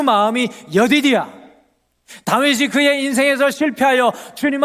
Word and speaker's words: 여디디야: 여디디야. 한번 따라해 보십시오. 여디디야.